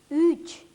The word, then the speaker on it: üç: Губы вытягиваются немного вперед, язык тоже впереди. Ü, üç, Ö, dört.